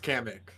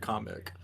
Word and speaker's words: Kamek: Oh yeah, because it's not pronounced Kamek. It's not. I forgot it because in the direct they said comic.